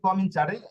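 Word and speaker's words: cominciare: কমনিকারে কমিনি sorry এটা হচ্ছে কমিনচারে। এখানে আমি মূল উচ্চারণ করেছি।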